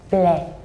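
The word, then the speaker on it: μπλε: Oh, So this is a Greek word and it's pronounced as ble.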